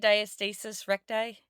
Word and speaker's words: diastasis recti: was I saying it right? Diastasis recti? Yes. Oh, Yeah.